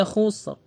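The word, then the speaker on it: خسر: Kemudian jika huruf ra disukunkan dalam keadaan waqaf dan sebelumnya ada sukun dan sebelum sukun ada harokah dhammah, ini juga tebal. Innal insana lafi khusr, tebal pengucapannya.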